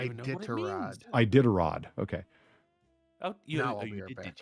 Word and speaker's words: Iditarod: Grandson of Idolatrod. How do you say that? The dog thing? Iditarod? I don't even know what it means. Iditarod.